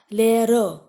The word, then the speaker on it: Lehrer: Here, Lehrer, you will say. Because the first R, it comes before a short vowel. So it is pronounced. But the last one is not pronounced.